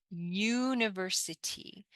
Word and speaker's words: university: city univi in English University so we start this pronunciation with Y not U but University like University